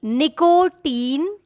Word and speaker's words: nicotine: This one, nicotine. No, this is not nicotine. The right way to say this word is nicotine, nicotine. nicotine, Nicotine, not nicotine.